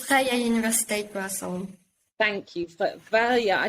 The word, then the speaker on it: Vrije Universiteit Brussel: It's Vrije Universiteit Brussels.